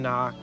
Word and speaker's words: knock: toads house he can knock the K is silent she's just keeping the N company while he does the talking so it's he knocked